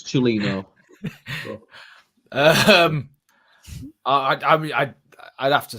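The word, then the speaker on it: Cellino: A poor Rads or a white powder fueled Celino? He's working on his Italian pronunciation. It's Chilino.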